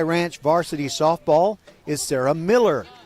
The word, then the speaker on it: Mueller: Number one, the longtime head coach of Cy Ranch varsity softball is Sarah Miller. M-U-E-L-L-E-R, pronounced Miller, not Mueller.